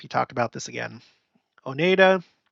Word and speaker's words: Oneida: talked about this again Oneida is O Nida Onondaga is okay I